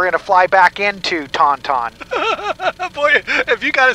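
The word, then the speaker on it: Toncontín: No, it's Toncontin.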